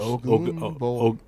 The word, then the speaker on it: Ogunbowale: Ogunbowale. 4 carries. Did I say it right? Close. Ogunbowale.